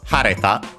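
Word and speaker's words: 晴れた: and the ta, so hareta. The accent of the te and ta forms are on the third syllable, so it moves. Third to last, syllable, so it moves in this case.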